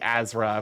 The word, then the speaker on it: Asra: I don't know, it feels wrong for it to be Azra, because it's like it's a Z sound, but it's spelled ASRA.